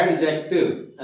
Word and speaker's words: adjective: तो we call it एडजेक्टिव, इसमें डी जो है वो साइलेंट रहता है। एडजेक्टिव ऐसे नहीं बोला जाएगा, एडजेक्टिव, ठीक है। डी को आपकी जो टंग है वो हल्का सा टच करेगी, सो we call it एडजेक्टिव।